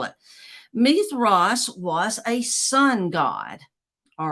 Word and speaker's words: Mithras: m-i-t-h-r-a-s if you're wanting to know how to spell it meath Ross was a Sun God all right and uh